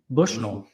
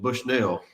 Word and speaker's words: Bushnell: duty in uh in Bushnell and they they knew exactly that. We weren't from here. Bushnull. Bushnell. You got you got to imagine you're southern when you say just imagine yourself.